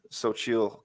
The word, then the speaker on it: Xochitl: I pronounced Xochitl Gomez's name correctly.